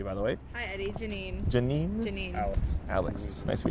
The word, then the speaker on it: Janine: Janine. Janine? Janine. Alex. Nice to meet you guys. How do you spell that? With a Janine. Janine. Like J9. J9.